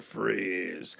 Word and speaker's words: Fries: persona and became Mr Freeze I always forget that Victor freeze is spelled like fries f-r-i-e-s not freeze like he calls himself freeze even though he's Victor freeze it every time I